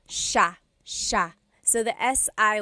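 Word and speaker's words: siya: like it should be pronounced but it's actually pronounced Sha Sha so the SI i y it's a sha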